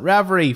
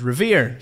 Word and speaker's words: Revere: famed Patriot Paul Riv I did call it ravy for quite a while and now I'm wondering